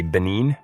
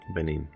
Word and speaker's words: Benin: for a time before moving to is it Benin? Have I have I pronounced that correctly? Yeah, it's if the French would say Ben and we say Benin. Benin.